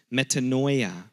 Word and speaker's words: metanoia: The Greek term for repentance, the word is metanoia, which is spelled meta, like M-E-T-A-N-O-I-A, metanoia.